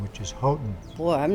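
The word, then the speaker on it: Houghton: at Arizona public media go with the family's preferred pronunciation which is hoton boy I'm not sure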